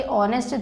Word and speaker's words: honest: HOO इसमें H silent है, ठीक है।